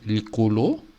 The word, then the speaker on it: likolo: Par exemple, le ciel, on dit likolo. Et puis, la jambe, on dit aussi likolo. C'est juste l'intonation qui change. Mais ça s'écrit de la même façon.